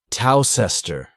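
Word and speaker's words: Towcester: the better for example toester is a small town in North hamptonshire a toaster is a cooking Implement for toasting bread the two words are written WR very differently but pronounced the same while you cannot learn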